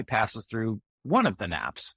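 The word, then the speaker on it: nappe: has a special name it's called a nap yeah Mr King do you think you can get one across the plate or do you need to take a nap and it's spelled differently from the Sleepy nap it's spelled na P so we've got this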